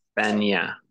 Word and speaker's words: España: Muy bien, recuerden que la ñ, esta letra que está aquí, se pronuncia ña. Ña. España.